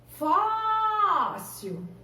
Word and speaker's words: fóssil: Fóssil. Ó, fóssil. Fóssil. Qual que é a sílaba mais forte? Fós. Então, agora é uma paroxítona.